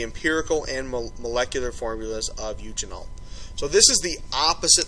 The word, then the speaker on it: eugenol: Alright, if we look at the next problem here, we are told eugenol, that's how you pronounce that, eugenol, is a main component of olive oil.